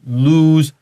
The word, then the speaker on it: lose: Well, no, this is lose, 那个双 O, like the moon.